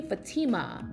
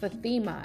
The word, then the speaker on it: Fathema: the most nicest way fathema cuz it's usually faima but it's fathema and I love that